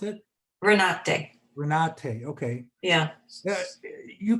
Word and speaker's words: Renate: Sheriff Renate, is that how you pronounce it? Renate.